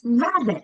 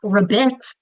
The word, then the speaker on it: rabbit: It's rabbit, not raet. So that second syllable, it's an has an I, short I vowel, but it's actually the same sound as thewah.